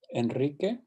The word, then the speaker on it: Enrique: Some things to keep in mind that sometimes when we spell it as a single R, it's actually pronounced as the trill R. That is true always at the beginning of a word. Ricardo, Costa Rica. It's also after the letter N, Enrique, and after the letter L, alrededor.